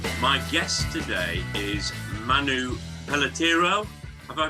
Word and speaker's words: Pelletiro: My guest today is Manu Pelletero. Have I pronounced your surname correctly, Manu?